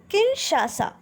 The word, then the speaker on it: Kinshasa: किनशासा। Spelling एक बार देखेंगे, KINSHASA, किनशासा।